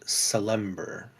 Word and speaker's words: Salember: You see and recognize the symbol of a Cormyrian noble who died a long time ago, named Salember. Like Salem, Ber. Is how you spell it.